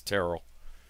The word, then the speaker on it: Terrell: to Sheriff Joey Terrell I got to make sure I pronounce it right it's not Terrell it's Terrell and hopefully he'll get back